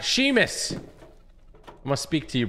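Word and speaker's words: Seamus: you thanks buddy it's pronounced Sheamus all right bro okay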